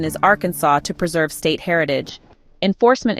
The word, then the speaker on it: Arkansas: Arkansas a 1947 law declared that the correct pronunciation is Arkansas to preserve State Heritage enforcement is rare but